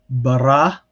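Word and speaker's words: ברא: And then bara. So again, you have open unaccented, and then you have closed accented because again the accent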